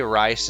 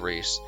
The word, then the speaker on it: Rhys: castle Prince Rhys uh now if I ever say rice instead of Rhys that is because his